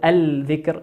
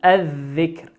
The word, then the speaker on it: الذكر: وآخرا قوله عز وجل لما سمعوا الذكر، سمعوا الذكر لام ساكنة أتى بعدها حرف الذال، والذال من حروف اللام الشمسية ندغمها، لا نقول الذكر لكن نقول الذكر، الذكر.